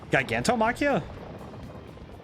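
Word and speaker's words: Gigantomachia: him with the gargantom gigantom machia giganto machia really avoiding the soft G sound I really need to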